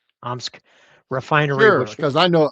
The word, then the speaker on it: Omsk: Did I pronounce that? Right. Omsk Refinery, Sure.